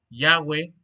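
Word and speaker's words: Yahweh: un Perdón Dios Jehová en el hebreo recuérdense que se escribe gh W H que se pronuncia yagüe Jesús mostró esta cualidad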